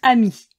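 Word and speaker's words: amie: À l'oral, ce nom se prononce ami, au masculin et au féminin. L'ajout du « e » final n'a pas modifié la prononciation.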